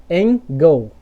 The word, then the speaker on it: angle: É como se o L trocasse de posição com a vogal E. Beleza? Sempre que acontecer isso aqui, ó, no final das palavras. Então vamos pronunciar em português fazendo essa troca de posição. Então ficaria assim, ó. Engel, certo? Em português. Engel. Singel. Agora vamos para o inglês, né? Angle. Beleza?